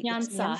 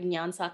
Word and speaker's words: Nyansa: Tell our listeners what the name, and I apologize, I did not pronounce it correctly. Nyansa. Nyansa, is that correct?